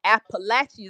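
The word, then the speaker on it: Apalachee: say the king of of the kingdom of appalachi is how we pronounce it but it was the kingom of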